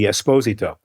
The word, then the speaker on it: Esposito: And the pronunciation of my name is really as it should be, Esposito.